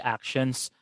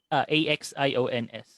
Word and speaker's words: axion: What are your thoughts about the actions as the candidate explanation for the dark matter? Sorry, what are the Actions. action? AXIONS.